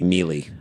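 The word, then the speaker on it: Maele: According to Melee, I'm just pronouncing it that. It's M-A-E-L-E. Mealy.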